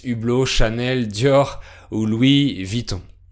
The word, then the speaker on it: Vuitton: Chanel, Dior ou Louis Vuitton. Oui, on prononce Vuitton, c'est un peu trop compliqué de prononcer Louis Vuitton, donc on prononce Vuitton.